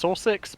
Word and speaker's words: Sausix: It's Sausix, but I'm just going to pronounce it sausage because it's funny.